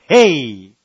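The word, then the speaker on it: ה: amén ok entonces empecemos la letra h en hebreo se escribe o se escucha como hey es h y hey ahora una de las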